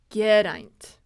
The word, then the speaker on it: Geraint: a good one too it's Grant so it's two syllables and I try to